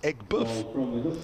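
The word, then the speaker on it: Aigburth: boardman tweeted earlier at sunsport says the correct pronunciation of ecberth as in the cricket ground is egg buff all right uh i know this might sound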